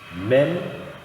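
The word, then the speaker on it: מם: Mem é uma letra labial, você pronuncia ela nos lábios, Mem. É uma letra fechada, é um som fechado, Mem. Nunca tem o som de En, né?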